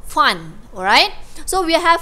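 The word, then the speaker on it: Pfund: Okay, sebut, kita silent P eh, kita tak sebut P Fan, kita sebut Fun, alright.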